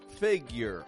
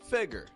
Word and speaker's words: figure: with the word figure figure also pronounced figure fig figure it can be figure or it can be figure both are good as long as it starts strong and then drops flat on the ending you're figure repeat that